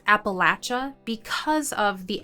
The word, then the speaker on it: Appalachia: is sometimes pronounced as Appalachia but in my experience if you talk to locals who were born in this region they don't pronounce it this way my father was born